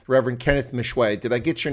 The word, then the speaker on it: Meshoe: I'm sure I get it wrong Reverend Kenneth Mishu did I get your name wrong sir Mish sir you got it right